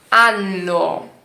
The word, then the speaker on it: anno: Por exemplo, eu não sabia direito pronunciar anno, ok? Anno, com 2 N. Porque senão vira uma outra palavra.